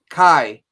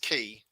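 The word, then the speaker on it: chi: pointing at that one kai kai because because some people tell me it should be pronounced key yeah yeah i i pronounce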